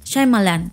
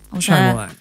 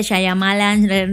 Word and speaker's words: Shyamalan: Yo ya vi cómo él se presentó a sí mismo y es Shyamalan. Shyamalan. Pues no, bueno, sé por qué mucha gente dice Shyamalan, no sé qué, se enreda. Es que lo lees y se lee como Shyamalan. Ajá, ¿no? Pero él mismo lo pronuncia, es Shyamalan.